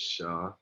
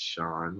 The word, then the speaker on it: Shah: My name is Shah. That's spelled S-H-A-H. Everybody swears it's Sean when I introduce myself.